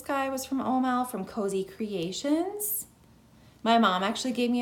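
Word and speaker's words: Cozee Creations: This sandy color, again, this one is also Cozy Creations Co. And when I say that, it's C-O-Z-E-E. So it's spelled a little bit differently, but Cozy Creations.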